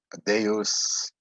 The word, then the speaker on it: deus: and so on so deus so here we have two vowels they're not a dipthong so they separate so it's de us deus and of course that's